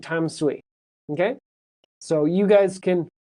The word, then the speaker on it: Tamsui: Well, yeah, so Bruce, Dansui is the pronunciation in Mandarin, but right now, they write on the MRT with a T. So the English pronunciation of that place, me and my friends will still call it Danshui, but on the MRT, it's using the T sound, which is, I think, Tamsui.